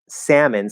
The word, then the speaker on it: salmon: a bit with um salmon salmon is is an exception where it is spelled a l but it's a with no l right that's a special exception but they're starting to say salman which which if most